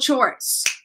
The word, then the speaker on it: chores: Once again, household chores. Okay, so CH, we say ch, chores, all right?